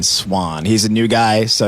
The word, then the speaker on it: Suahn: It's spelled Suahn. Swan.